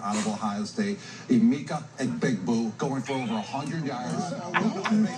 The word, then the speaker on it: Egbuka: Sensation wide receiver out of Ohio State, Emeka Egbuka, going for big boo. Big boo. He knew it was a hard G.